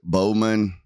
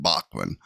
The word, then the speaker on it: Baughman: She pronounced it Bowman. My sister-in-law, Deidre's sister, actually married a guy with the name spelled the same way, but they pronounce it Bachman. Baughman, I believe is how they spell it.